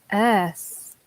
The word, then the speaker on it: earth: I make confusion with the pronunciation of heart and earth.